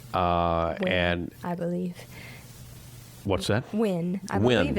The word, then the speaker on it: Nguyen: Win. I Win. believe it's pronounced Win.